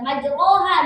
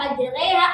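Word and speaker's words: مجراها: Ada majroha. Majreha majriha. Iya. itu bukan berarti ih dia ngada-ngada. Enggak kayak gitu. Imam itu memiliki menentukan cara bacaannya karena beliau itu talaqi dengan gurunya dan talaqi dengan gurunya ya seperti itu. Makanya bacaannya seperti itu gitu.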